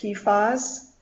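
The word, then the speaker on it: PFAS: websites so switching gears a little bit about pee foz so these are purple floral alkyl substances generally pronounced pas this is a big compound that includes more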